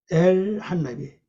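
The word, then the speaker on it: אֶל־הַנָּבִיא: 한 나비, 엘 한 나비. 요 표시는요, 요 단어와 요 단어 끊지 말고 하나로 묶어서 읽고 묶어서 발음하라는 뜻이거든요. 요걸 마키브라 그럽니다. 그래서 엘 한 나비, 한 나비예요.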